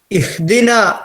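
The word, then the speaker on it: اهدنا: പാതയിൽ എന്നാണ് ഇവിടെ നമ്മൾ ഇഹ്ദിന എന്ന് പറയുമ്പോൾ ഹ ചില ആളുകൾക്ക് ഹ ആയിട്ട് വരില്ല അല്ലെങ്കിൽ ഹാ ന്റെ ഉച്ചാരണം ശരിയായിട്ട് കിട്ടാൻ നമ്മൾ നമ്മുടെ തൊണ്ടയുടെ അല്ലെങ്കിൽ കഴുത്തിന്റെ ഏറ്റവും താഴെ നിന്ന് വരുന്ന ഒരു അക്ഷരം തൊണ്ടയുടെ ഏറ്റവും താഴെ നിന്ന് ഹളീ പിന്നെ കഴുത്തിന്റെ ഇങ്ങനെ ഇവിടെ ഏറ്റവും താഴെ അവസാനം ഭാഗം ഈ ഭാഗത്തുനിന്ന് പറയുന്ന രൂപത്തിൽ പറഞ്ഞാൽ വളരെ ക്ലിയർ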